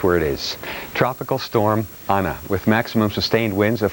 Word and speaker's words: Ana: Ana, actually, it's the Spanish spelling and pronunciation.